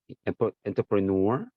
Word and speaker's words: entrepreneur: enterprise entrepreneur 하면은 사업가 ER 대신에 이게 이게 프렌치에서 온 어원을 가진 단어들은 이렇게 누어로 끝나요. 누어. 그래서 누어 이렇게 entrepreneur.